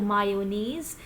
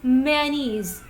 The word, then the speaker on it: mayonnaise: pronounce this word mayonnaise it is not mayonnaise the correct pronunciation of this word is Manis it's Manis there is no ya sound it is many many is right next is what what